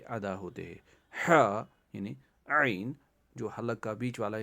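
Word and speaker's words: عين: ہا یعنی عین جو حلق کا بیچ والا حصہ، وہاں پہ انگلی رکھ کے ٹرائی کریے، پریکٹس کریے بار بار.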